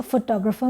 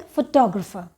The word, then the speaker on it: photographer: The photographer में 3 syllables हैं and the stress is on the second syllable, t. तो उसको हम लोग बोलते हैं फोटोग्राफर.